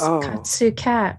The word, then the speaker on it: Katsu Cat: Yeah, it's Katsu Cat, where the katsu part is with a C and the cat is with a K.